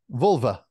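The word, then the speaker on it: völva: they were cold and I want to say it properly because it's Volva is that the right way to say it say it vulva vulva so they were like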